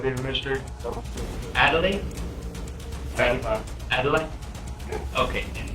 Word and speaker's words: Adlai: Adlai Mestre. Adelaide? Adelaide? Okay, and how do you spell it?